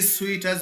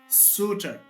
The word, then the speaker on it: suitor: Even Americans could say surs we don't have sweeter. We have suiter. Once we say sweeter, we pronounce differently and we mean a different thing. So the pronunciation will become symphonative speakers to understand. So you are not supposed to say sweeter, you have to say suiter.